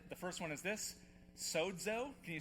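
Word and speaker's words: σώζω: All right, I want to teach you how to pronounce it. The first one is this, sozo. Can you say it? Let's see, 1, 2, 3, sozo.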